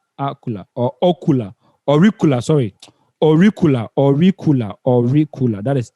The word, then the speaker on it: auricular: or ocular auricular sorry auricular auricular or recoil that is yeah around the ear or recoil please get the pronunciation right auricula a-u-r-i-c-u-l-e-r auricular branch of the occipital artery